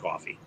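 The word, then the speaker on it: Ko-fi: buy a coffee and that's how it's actually pronounced coffee okay so it's like a tip job where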